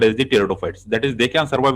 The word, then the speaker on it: pteridophytes: Okay, P is silent here, and the pronunciation is pteridophytes.